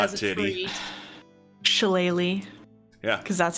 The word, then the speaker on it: shillelagh: Shillelagh. Yeah. Because that's how that's pronounced.